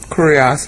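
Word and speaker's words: κύριος: Kurios, actually, is how you pronounce it.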